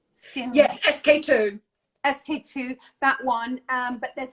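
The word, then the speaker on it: SK-II: Yes, SK2.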